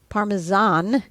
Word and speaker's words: Parmesan: Parmesan is the correct pronunciation.